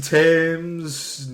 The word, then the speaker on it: Thames: Mason Thames, Nico Parker, Nick Frost is there. You live in the UK, you know that's pronounced Thames. Yeah, but I assume it's American, so I assume it's Thames.